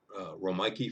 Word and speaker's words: Romeike: 15 years ago the rike family it's spelled like the city of Rome then Ike like a Ike Eisenhower put that together it's R ik ke the Riki family from